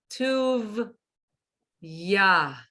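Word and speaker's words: טוּבְיָה: And the next one, notice the dot's in a different place, so it's not tov. Tuv, ya. Exactly. And you don't have to pronounce the hey because it's at the end.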